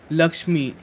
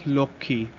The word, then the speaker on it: Lakshmi: Lakshmi, we say it as Lokhi.